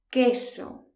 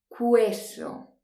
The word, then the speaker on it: queso: letra i por ejemplo queso fijaos que la letra un no se pronuncia no decimos hueso decimos que eso l sacra es el